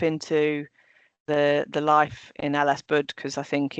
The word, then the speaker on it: LSBUD: So all of that good stuff is exactly why I motivate was motivated to to step into the the life in Ellisbud because I think it's a no-brainer really.